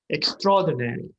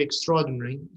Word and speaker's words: extraordinary: It depends how you pronounce it. If it's American, they say usually extraordinary. Even though it's extra, but they're combined. But in British, usually they say extraordinary.